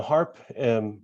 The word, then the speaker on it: Harpe: path by being biologics and natural products now harp as i pronounce it seems a little bit strange that